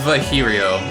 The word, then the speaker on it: Virgilio: You look winded, Virgilio. It's pronounced Vihirio.